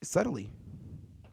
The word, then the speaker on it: subtly: Subtly, because it's subtle.